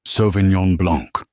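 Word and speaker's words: Sauvignon blanc: It is pronounced sovenong blanc.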